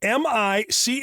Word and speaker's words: Michaelis: Spelled M-I-C-H-A-E-L-I-S, pronounced Michaelis.